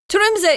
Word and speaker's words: Tromsø: So if you don't pronounce the C there, don't worry about it. And again, this is Tromsø, Norway. Tromsø.